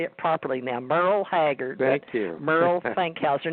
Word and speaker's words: Merrel: TJ, actually, my parents spelled my name like it should be pronounced Merrel, but it's Merle, like Merle Haggard.